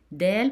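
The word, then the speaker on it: دال: Dal pronounced as D in English.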